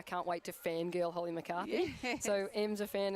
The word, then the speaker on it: McCarthy: And Minna, I mentioned actually during the 17 and under broadcast, Holly McCarthy, who I unfortunately got her name wrong. I was calling her McCarty.